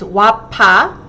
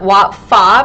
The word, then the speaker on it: Wafa: Wafa님, my Korean friends pronounce my name as Wapa, not Wafa because there is no f sound.